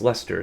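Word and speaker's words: Leicester: Um, but yeah, apparently it's pronounced Lester.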